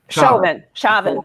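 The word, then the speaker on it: Chauvin: if you notice in the prosecution of defending mispronounces names it's Chavez shavon shavon in the initial prosecution the documents which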